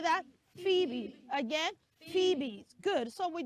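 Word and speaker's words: Phoebe: that name is not febe it is not phobe no the right pronunciation of that name is Fe everybody say Fe B Fe that's it phbe can we say that phebe again phebe good so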